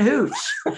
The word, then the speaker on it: Hooch: Because it rhymes Marla with smooch. Hooch.